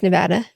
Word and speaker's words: Nevada: So, if you don't know, it's the capital, and it's Nevada. That's how you pronounce it.